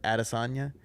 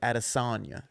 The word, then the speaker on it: Adesanya: a desk on you as opposed to like adesanya because like naturally I only I want to say like addisonia you know what I'm